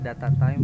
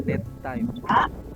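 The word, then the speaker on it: datetime: Terus itu di situ tadi kamu bacanya data time, tapi harusnya date time.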